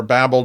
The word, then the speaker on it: Babel: the oldest nerd and you can pronounce it Babel or Babel depending on your preferences but uh what this